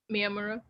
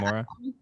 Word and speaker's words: Miyamura: It's when Slave Girl comes to visit Hori and does the recognize how do you pronounce his name again? Miyamura. Yeah. Miyamura.